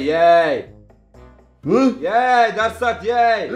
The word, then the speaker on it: jij: Daar staat jij! Staat niet ik kardes, staat niet Mahmut, staat j i j. J I J. jij. Dat spreek je uit als jij!